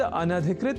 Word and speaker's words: अनधिकृत: पर हम जब न या अन और अधिकृत इन दो शब्दों से मिलकर बने अनधिकृत शब्द के अपने संप्रत्यय को दृढ़ कर लें तो संभवतः भूल से भी इस शब्द के उच्चारण और लेखन में अशुद्धि नहीं होगी। तो यह शब्द अनधिकृत इस रूप में ही है।